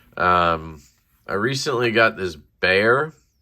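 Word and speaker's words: Bexar: i recently got this bear it's pronounced bear like the animal by the way it's spelled with an x b-e-x-a-r but it's pronounced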